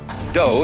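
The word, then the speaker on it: 道: the science of Judah do is the way the Japanese pronounce Dao ju means gentle Judo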